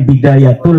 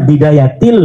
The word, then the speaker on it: Bidayatil: Kenapa ada huruf jar B? Katanya dibacanya bidayatul hidayah. Harusnya bidayatil hidayah.